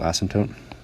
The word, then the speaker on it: asymptote: As x goes to infinity, this is the definition of a horizontal asymptote. There's a silent P in there.